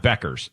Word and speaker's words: Bueckers: I think that's how you pronounce her name. I'm not great. Um, to be fair, I Bueckers, that's right, right? And we got producer Greg, who's a big UConn. Beckers, sorry. Paige Bueckers.